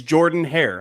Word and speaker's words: Jordan-Hare: It's Jordan-Hare.